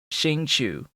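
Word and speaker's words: Xingqiu: It was 2 Noel, 2 Ningguang, the Xingzhu, Chu, CH sound after an S. It's SH sound at the beginning and then CH sound. So Xingchu, I think is how you say that dude's name, with Klee.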